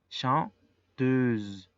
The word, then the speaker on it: chanteuse: La pronunciación es chanteur. Y el segundo en femenino, cantante femenino, es chanteuse.